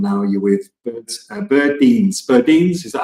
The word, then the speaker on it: Burdeens: Roman sha and now you're with birds birin birin is that how you pronounce it correct in Chicago and we were